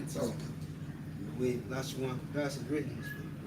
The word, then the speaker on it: Lashawan: So the A on the na drops off and you pronounce it one at that point. You understand? Which makes it Lashawan.